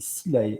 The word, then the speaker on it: Silae: Tout à fait, c'est Silae, ça s'écrit S-I-L-A-E.